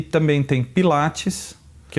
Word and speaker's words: Pilates: Pilates? Pilates. Não é Pilatos não, hein? Não tem nada a ver com Pôncio Pilatos. Né? Não. É Pilates.